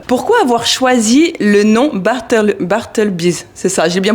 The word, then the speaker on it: Bartleby's: Pourquoi avoir choisi le nom Bartleby's? C'est ça, j'ai bien prononcé, ça va. C'est exactement ça. Il y a un petit son anglais quand même dedans.